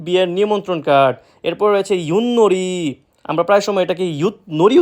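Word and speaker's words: 윷놀이: এরপর রয়েছে ইউননরি। আমরা প্রায় সময় এটাকে নরি উচ্চারিত করে থাকি, যেটা সম্পূর্ণরূপে ভুল। সঠিক উচ্চারণ ইউননরি।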